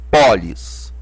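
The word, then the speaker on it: πόλις: ao nosso o aberto Ah tá aqui o acento agudo Agudo só deu a só teve a função de dar ênfase a essa sílaba pó Pólis aqui embora seja uma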